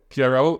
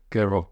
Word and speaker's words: Gero: So if you may, first, I'm going to let you pronounce your name. Gero. But what's a German name? Gero.